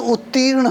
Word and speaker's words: उत्तीर्ण: बता रहा था कि जैसे उत्तीर्ण शब्द है, उसमें दीर्घ ई का उच्चारण का भी ध्यान रखना चाहिए। जो ह्रस्व वाले हैं वो उसमें कम हवा निकलती है, धीरे से बोलते हैं, और जो दीर्घ वाले हैं उसको तेज़ी से रखा जाता है।